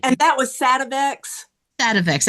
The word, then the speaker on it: Sativex: Sativex. I said it wrong. Yeah. Yes. And that's just an I isolate. inverted my T and A there.